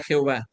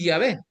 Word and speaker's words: Yahvé: también la palabra Jehová, si quieren pronunciar el nombre correcto de Dios, tendría que ser otra situación, no el nombre de Jehová. ¿Por qué no dicen entonces Yahvé, que es la traducción más correcta, más cercana, más viable para el